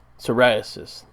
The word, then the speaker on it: psoriasis: cannabis to treat for psoriasis let's how you say that that P is silent man that'll get you every time dammit ok and then